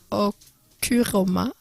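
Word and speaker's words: ὀχύρωμα: Pour les gens qui aiment bien les références grecques, le mot grec pour forteresse est okuroma, environ. C'est à peu près la prononciation.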